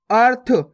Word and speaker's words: अर्थ: आ और था के ऊपर रेफ की मात्रा, तो कैसे पढ़ेंगे? अर्थ।